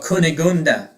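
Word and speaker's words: Cunégonde: Uh oh my god, I forgot how how to pronounce this damn thing. Oh, Kunigunda.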